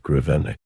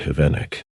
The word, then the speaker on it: Grivennik: here I noticed that when he came to the word Grivennik, he had difficulty in pronouncing the R. Instead of Grivennikan, he would say Hivenik. This struck me as being somewhat strange and made me think, here am I, a pupil, and I can pronounce GR correctly, while the director, a very important and learned man, cannot pronounce GR and says GH.